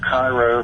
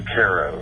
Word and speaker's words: Cairo: Now, folks that would look on a map would pronounce it Cairo, but we say Cairo here in Ritchie County.